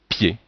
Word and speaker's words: pied: le I et le mais on ne dit pas P mais on dit pied ici vous avez le